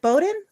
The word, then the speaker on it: Boden: So Boden, is it Boden? Yes. Is that how you pronounce it?